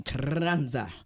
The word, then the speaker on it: Carranza: This how he told me to say his name, Carranza. Okay. You got those R's roll that R.